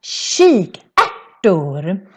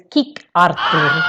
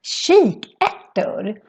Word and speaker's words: kikärtor: And in Swedish, it's pronounced kikärtor. And it's very different from when you see it, because if you would see this very fast, maybe you would think it's kikartor, but no, it's pronounced kikärtor.